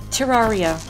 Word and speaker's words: Terraria: myself look entirely the fool I will remember Terraria and now I know now this is the